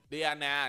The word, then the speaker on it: Diana: Không, anh gọi nó là đi Diana nè, thấy không? Em đọc đúng không? Đi nè, An nè, Na nè, thấy không?